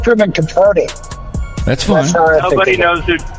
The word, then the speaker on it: Capote: What does he think Cowpote is going to do?